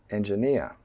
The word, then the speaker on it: engineer: Engineer engineer. You can see the first syllable 'en' is a minor stress, and the third syllable 'eer' is a major stress, so it becomes engineer.